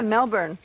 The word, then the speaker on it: Melbourne: written Melbourne in yeah Melbourne it rhymes with rain storm in a way uh-huh no so so